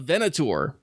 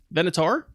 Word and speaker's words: Venatur: The developers of Venatur. Venator? Venatur? Something Italian. Centaur, but with a V instead. Yeah. So I'm going to go Venatur.